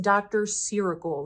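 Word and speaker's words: Dr.Ceuracle: is from the brand I think it's pronounced Dr. Ciracle, like Dr. Miracle, Dr. Ciracle.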